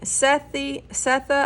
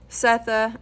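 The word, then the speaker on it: Sethe: Setha, I think it's Setha. It's like S-E-T-H-E is the main protagonist. I think it's pronounced Setha. I heard in an interview, but I'm not sure.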